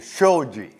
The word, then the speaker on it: Shoji: cannot say my name you know it's a Shoji Sh oh yeah I showed you that I'm